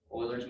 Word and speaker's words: Euler: Okay, any questions for that before we hop on to Euler's method here? It's pronounced Euler, by the way, not Euler. Some of you who took, some of you might know that because you use Euler's identity there.